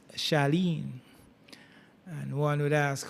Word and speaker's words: Charlene: You have C H A R L E N E being pronounced Shalene.